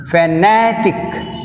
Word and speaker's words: fanatic: Fanatic, fanatic, na, tick one, na, two. Second syllable from the end means N. So that's why take on the stress N.